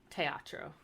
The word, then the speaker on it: teatro: an open E so the closed e is like the a in date so it's like a longer a instead of a short a okay so like Teatro or you have the